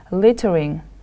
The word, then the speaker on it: littering: after me please littering littering the stress is on the first syllable next picture look at